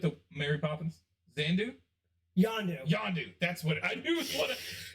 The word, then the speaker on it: Yondu: got more yeah because uh was it zan zandu how do you say his name with the mary poppins zandu yondo yondu that's what i knew what is the wire